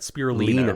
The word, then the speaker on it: spirulina: So we're talking about, we looked up the pronunciation before this started. Spirulina, right?